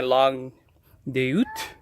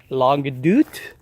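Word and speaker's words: Longue d'Août: here nothing on the lung this is my log doot as somebody corrected me it's pronounced dude log dude is it along it out this is a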